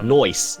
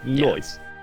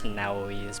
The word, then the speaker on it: Naoise: I don't know how to pronounce that, but people told me it's Nisha. Well, we'll see. We'll see. Noise. That's how you pronounce it. Noise. I was pronouncing it as Naoise, but Yeah.